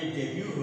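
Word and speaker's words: debut: डेब्यू होता है तो ये डेट नहीं होता ये डेब्यू होता है और इसी तरह से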